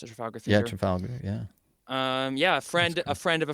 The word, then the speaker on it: Trafalgar: I think that's how you pronounce it, Trafalgar Theater. Yeah, Trafalgar.